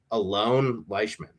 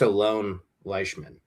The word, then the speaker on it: Alon Leishman: So I'm not positive on the pronunciation of his name. I think I saw though it is Alon Leishman, is because he's actually born in Israel.